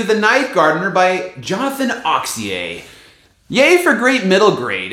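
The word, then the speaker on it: Auxier: and I've recently discovered Jonathan oxier uh spelled aux i r French pronunciation oxier he described himself as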